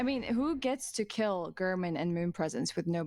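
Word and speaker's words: Gehrman: I'm so glad that Ash read that out because I would have said German instead of Gurman, and everyone would have laughed at me.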